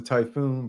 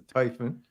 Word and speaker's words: Typhon: I got the Typhon I always thought was the typhoon but it's the Typhon oh gosh all right